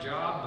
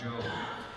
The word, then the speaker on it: Job: Looks like Job, but it's pronounced Job.